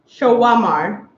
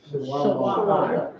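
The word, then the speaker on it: שומר: In Hebrew, fennel is pronounced shawamar. Shawamar.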